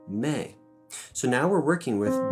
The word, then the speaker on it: me: So I mentioned in the preliminary class that when we flatten a solfege syllable, most of the time it takes on an A sound. T flattened is te. La flattened is le. In this case, mi flattened is going to be called me.